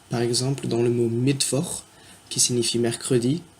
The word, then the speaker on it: Mittwoch: Donc, par exemple, dans le mot Mittwoch, qui signifie mercredi, on entend V, et bien c'est un W qui est écrit.